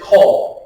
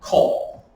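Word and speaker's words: קול: So Q o L cole. Just pronounced coal. Just like what you don't want in your your Christmas stocking.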